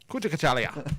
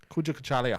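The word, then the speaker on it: Kujichagulia: Kuja Kachalia, which means self-determination.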